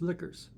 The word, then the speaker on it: Toadliquors: From Mojo Nixon and the tillers spelled with a Q, it's lickers.